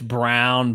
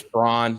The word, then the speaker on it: Braun: It's Brown, but yeah. It's Braun, like Ryan Braun.